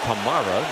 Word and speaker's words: Kamara: a running back run he does pronounce it camra told the pr staff of the saints's mother pronounces it Kamara he prefers CRA Norcross Georgia Breeze looking deep